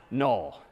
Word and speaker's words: NUL: this character is again sort of pronounced null or written n-u-l so that's all right